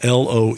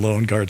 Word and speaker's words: Loengard: You and I liked that name very much because even though it's spelled Loengard, Loengard. We liked it because it was subliminal for lone guard, basically the guy standing at the gates.